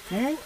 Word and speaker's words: Mont: Mou, et on s'écrit Mou. M-O-N-T. Ah, très bien, Mou.